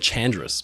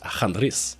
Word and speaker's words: Chandris: Speaking of Greek shipping companies, the Chandris line, I've always said Chandris, but recently learned that it's actually pronounced Chandris in Greek, had operated similarly a fleet of kind of like secondhand ships.